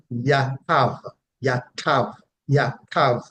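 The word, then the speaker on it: yatab: the root word is transliterated to English as y a t a b and it is pronounced yav yav yav meaning to make well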